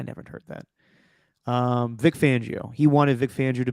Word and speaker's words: Fangio: now yes yes yes Vic fangio is it fangio or fangio I've heard fangio lately and I've been pronouncing he's not he's not Fabio fonzio I've always called him calling him fonzio I'm like fangio yeah